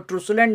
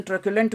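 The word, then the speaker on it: truculent: इसको ट्रूसुलेंट ना बोलें, इसका प्रोनाउंसिएशन ट्रक्युलेंट बोलें।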